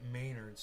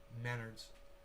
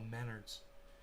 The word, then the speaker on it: Menards: donald trump and john maynard i work at maynards trump and maynard used to sue each other just google those dudes together and it's pronounced menards oh menards really not important though yeah it's not important